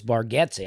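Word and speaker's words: Bargatze: Well, I' I've been told that. I've been saying it wrong. Apparently it's Baretti.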